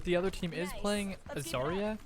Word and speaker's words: Zarya: other team is playing Azaria is that how you pronounce her name zarya correct I probably were uh